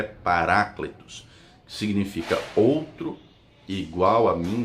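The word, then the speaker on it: παράκλητος: palavras para ecléticos né a pronúncia correta é paraclitus significa outro igual a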